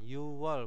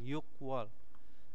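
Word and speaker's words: 유월: ya O wall wall jangan lupa y wall bukan yuk wall nah terus 10 itu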